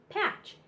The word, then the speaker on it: patch: So TCH says ch in patch. The T is silent.